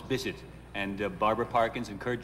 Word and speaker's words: Bisset: And Jacqueline Bisset, she likes to say her name is Jacqueline Bisset. I thought it was Bisset. No, it's Bisset.